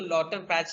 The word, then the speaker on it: Lauterpacht: उनको अलग अलग नामों से बुलाया जाता है इनको, लेकिन लॉटर पैच ही बोलते हैं। ऐसे उनका नाम LAUTERPACHT है। मैं प्रोनाउंस तो लॉटर पैच ही करता हूँ, टी नहीं, टी साइलेंट रहता है इनका।